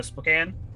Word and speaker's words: Spokane: Spokane.